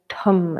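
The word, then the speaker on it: dham: in dog d but it's kind of a mix between a d and a t so it's like a tum a slight rolling d or rolling t so t you could spell it t-h-a-m or d h a m or d h u m so tom left hand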